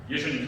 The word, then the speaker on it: 예수: 예수님 상징적으로 보여줍니다. 여호수아가 예수님이에요. 여호수아 예수님 상징이죠. 이름이 똑같아요. 여호수아. 구약에서 히브리어로 여호수아 이렇게 발음이 되고요. 헬라어로는 예수 이렇게 되는 거예요.